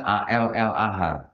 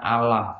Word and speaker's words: Allah: mereka juga ada ditulisnya a l l a h kalau kita baca ini bacanya Allah jangan baca Allah karena di dalam sini kan enggak ada tasdidnya bu ya gitu ya Nah